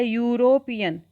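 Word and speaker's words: European: क्योंकि यूरोपियन को हम जब बोल रहे हैं, को प्रोनाउंस कर रहे हैं, तो हम यू, इसको साउंड आ रहा है पहले, यूरोपियन। तो यूरोपियन से यहाँ पर आएगा अ, ही इज अ यूरोपियन।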